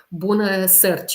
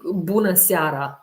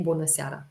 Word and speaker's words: bună seara: Bună search. It's maybe bună seara, which is good evening. doTERRA is very, very, very expensive, unfortunately. If you say it like that, you will attract that way. Okay, bună seara. Yeah, that's correct.